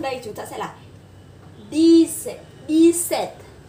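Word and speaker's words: dix-sept: Thì khi mà chúng ta nối sang đây chúng ta sẽ là D-set. Và cái âm P này vẫn là âm P câm, do đó chúng ta sẽ đọc là D-set.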